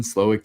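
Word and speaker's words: Slowik: And we've seen Slowick take a bit of like a philosophical, yeah, that's how you pronounce that.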